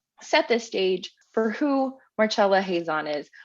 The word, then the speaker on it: Marcella Hazan: this stage for who marchella hazon is also I think we were saying her name wrong in the last in that ravioli episode so oops we got it right now so she was born